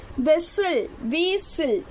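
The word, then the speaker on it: whistle: வெசில், வீசில், வீசில். ஓகேங்களா? Wக்கு சின்னதாக இருக்கும். விசில், WHக்கு பெருசாக இருக்கும். அது விசில்னு ப்ரொனவுன்ஸ் பண்ணணும். ஓகேங்களா? T silent, விசில்.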